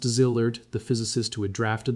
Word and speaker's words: Szilard: Leo Szilard, pronounced Szilard, the physicist who had drafted the letter to Roosevelt that started the atomic bomb program.